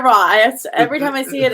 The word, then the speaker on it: Roy: That's Matt Roy, not Matt Waugh. I was like, is it Roy or Raw? Every time I see it, it scares me to say one or the other. Matt Roy.